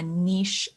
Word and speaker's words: niche: that's a great question niche market or niche market depending on where you're from you might pronounce it a little bit differently is an area that